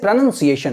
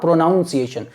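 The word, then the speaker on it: pronunciation: आईटी इस प्रनंसीएशन okay always प्रनंसीएशन note प्रोनॉन्सिएशन okay it's प्रनंसीएशन उच्चारण कैसे करना है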